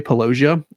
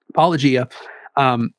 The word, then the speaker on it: Paulogia: so people know, because I always pronounce his name wrong. I always used to say Paulogia, and now I'm trying to pronounce it the way Paulogia says it.